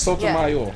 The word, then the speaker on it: Sotomayor: You say it close, it sound like Sotomizer, no? Sotomayor? Yes, Sotomayor.